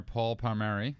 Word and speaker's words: Paul Palmeri: us our new guest tonight is comedian extraordinaire paul palmeri hello did i say it right yeah you